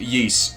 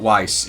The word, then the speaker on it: Ys: And yes, that is pronounced Ys, by the way, not Weiss. It's Ys.